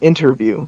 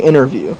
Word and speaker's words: interview: it and they said interview. They pronounce the T. Oh, it's they say that Arizonans uh they skip over letters like unnecessary letters. So I say interview.